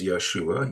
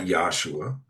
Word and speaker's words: Yeshua: And that's one of the proofs why I believe it was Yeshua. Yesua, not Yosua.